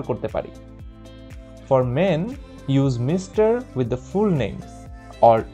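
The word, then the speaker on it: Ms.: মিস does not tell you ইফ A women is married or নট, অর্থাৎ এই এম এস ডট এর উচ্চারণ হচ্ছে মিস, এটা আমরা সবার নামের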